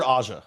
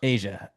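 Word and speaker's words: A'ja: that throw that yeah Asia Wilson is it Asia or Aza Asia it's spelled Aza but I think it's a apostrophe ja I Asia though she [ __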